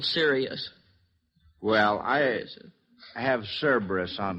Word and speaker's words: Sirius: Cirrus, the dog star. What is that again, honey? Cirrus. Well, you're on the right track. Let's see if we can clear that pronunciation up. Lonnie? Well, Sirius.